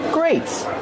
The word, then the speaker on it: grates: These are called grates grates it's spelled differently than great but it has the same pronunciation these are greats Kevin